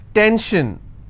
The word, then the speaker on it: tension: SION, tension, pension. So how many syllables in tension? 2. Tension, I will stress on 10.